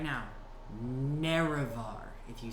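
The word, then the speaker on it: Nerevar: Naravar. If you say it wrong, you'll get nothing. Naravar.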